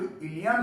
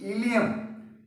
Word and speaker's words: ilium: ऐसा ही एक प्रोनाउंसिएशन आगे चल के मिलेगा, दैट इज अगेन इलियम, लेकिन स्पेलिंग अलग है, ILIUM। जब वहां पढ़ेंगे तो हम बोलेंगे ILIUM।